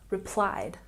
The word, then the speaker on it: replied: We have a stress here on the second syllable. Practice with me. Replied.